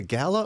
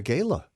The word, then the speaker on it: gala: I'm saying it wrong is it a Gala or a Gayla I don't know however